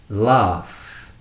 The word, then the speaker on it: laugh: Again, laugh. Laugh. Although laugh ends in a gh, it has an f sound.